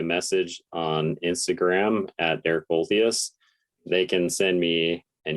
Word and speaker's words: Olthuis: US or Canadian sounding Olthuis. Yeah, it's a cool name. Yeah, it's interesting. It actually means old house. Yeah, sounds like old house.